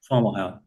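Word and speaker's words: Fomalhaut: So for triple star systems Jerry says fo formalo and a lot of us say foah hawk formalhawk.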